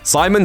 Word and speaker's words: Psimon: presumably, told him to start spelling his name with a silent P. Psimon set out to further